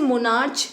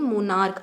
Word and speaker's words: monarch: हम इसे मोनार्च नहीं पढ़ रहे हैं, हम इसे पढ़ रहे हैं मोनार्क।